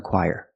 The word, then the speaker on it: choir: friend sings in the choir so remember this word is pronounced choir very different than how it looks and you can say